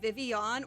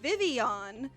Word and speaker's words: Vivillon: That's how you pronounce Vivillon? You say it like Vivian? Why though? Because the double L is a Spanish thing.